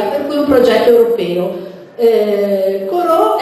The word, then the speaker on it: CoRoT: Il primo cacciatore di pianeti è questo qui, che vedete, si chiama Corot. Lo pronuncio alla francese perché è un satellite, un